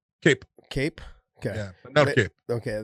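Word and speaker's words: Kape: say his last name cop cape cape okay okay they were saying cop last time and i've heard both in in japan it was always cape now i heard when the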